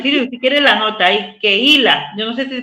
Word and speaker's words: Kehila: está, vea, Walter, si quiere la nota ahí, Keila, yo no sé si se pronuncia así, Keila, que es eclesia en hebreo. Kehila.